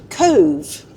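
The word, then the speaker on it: Cobh: Had a lovely couple of nights in Dungarvan, and now we're heading to Cove. Look at me with me pronunciations.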